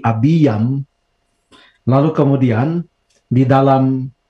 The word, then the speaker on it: Abiam: ya Abi ya menjadi bacanya bukan abiam tapi Abby yang lalu kemudian di dalam